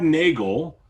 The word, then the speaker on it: Nagle: time today i'm with nagle rhymes with bagel is what he just